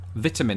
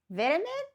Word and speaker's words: vitamin: Firstly, of course, there is the fact that I pronounce the T and most of you guys don't. Vitamin?